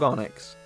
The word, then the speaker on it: Onix: It rhymes with Sonics. It's the top G himself. It's the big dog Onix at level 44 with the move Sandstorm, Bind, Bide, don't get confused, and Rock Slide.